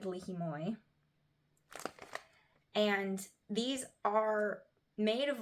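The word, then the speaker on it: li hing mui: the seasoning coating is called red lihimoy that was how my friend pronounced it red lihimoy and these are made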